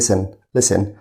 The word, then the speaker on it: listen: وخلي بالك حرف التي هنا silent، بنقول listen.